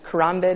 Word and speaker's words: Karambit: The fade is the most popular and then the slaughter and then the Karambit is the most popular Karambit?